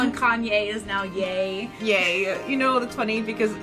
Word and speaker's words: Ye: Yay. You know, that's funny because, like, I would see it in writing and I would pronounce it as Yee.